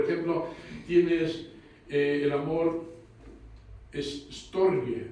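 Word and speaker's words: στοργή: Por ejemplo, tienes el amor es storge, me parece que se pronuncia así, storge.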